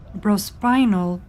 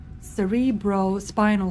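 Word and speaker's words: cerebrospinal: the pink elithid the bropinal fluid. Cerebro cerebrros spinal fluid. That's how you say it.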